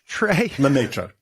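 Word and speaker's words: Lemaître: There was a guy, and I can't pronounce his name. What's his name? Lemaitre? Lemaitre.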